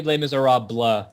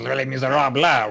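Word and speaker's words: Les Misérables: Les No, it's actually Les Miserables. Shut the fuck up! I'm sorry. I asked my French friend on this. He said, oh, oui, it is Les Miserables, white flag, oh, baguette.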